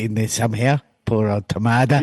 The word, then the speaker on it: Tamada: Poor old Tamada. He only rhymes with Ramada.